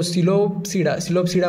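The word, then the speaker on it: Psilopsida: येते ठीक आहे पोट मला वाटत की पी सायलेंट आहे सो सिलोडा मध्ये हा ्याच्यामध्ये पी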